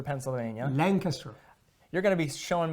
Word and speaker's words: Lancaster: It's Lancaster, Pennsylvania. Lancaster. You're going to be showing me out all day in my pronunciations.